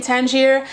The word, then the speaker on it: Tangier: was, and also didn't really know how to pronounce it. I know very well because I was actually born in Tangier.